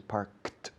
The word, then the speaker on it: parked: Claro, se escribe worked, parked, con ed al final, pero la pronunciación es parked, de K una T, sin ninguna vocal en medio.